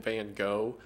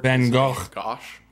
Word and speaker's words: Van Gogh: I should also mention here that while I'm calling him Van Gogh, I know the correct pronunciation for it. Van Gogh. Van Gogh or something along those lines.